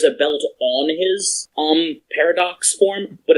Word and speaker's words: Parad: and the appearance of paradox happened you mean par ex it's pronounced Paradox I know but Japanese